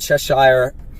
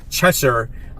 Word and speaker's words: Cheshire: We have Cheetah and Cheshire. I say it wrong already. Cheshire.